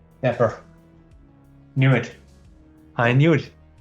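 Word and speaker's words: Dapr: How does he pronounce it? Dapper.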